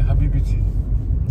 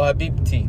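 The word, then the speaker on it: حبيبتي: And if it's your wife, you say Habibiti. Sorry? If it's your wife, you say Habibiti. You say Habibi to her? Habibiti. Oh, Habibti.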